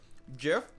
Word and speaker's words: GIF: Jif is the proper pronunciation. I don't like it either, but Jif is the proper pronunciation.